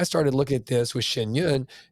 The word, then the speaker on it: Shen Yun: So then comes, and please feel free to correct my pronunciation, Shen Yun.